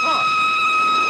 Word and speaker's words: Froy: My name's Froy. You said Froy? No, not even the Froy. I'm sorry, I can't hear. It rhymes with joy.